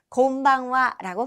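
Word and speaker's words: こんばんは: 이제 대여섯 시 지나가서 어둑어둑해진 그 시간부터 밤까지는 이렇게 곤방와라고 발음합니다.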